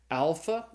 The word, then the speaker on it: alpha: The first Greek letter is the letter alpha. It's pronounced like in the A sound in the English father. So alpha is as in father.